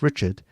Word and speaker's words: Richard: So you're Cliff Richards. No, I'm Cliff Richard.